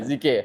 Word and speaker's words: dhikr: She reminds Muslims to rediscover the spiritual calm that comes from dhikr, sabar, and connecting with Allah. Did I pronounce that correctly? Lovely. Dhikr. Zikir. I'm so sorry, Zikir.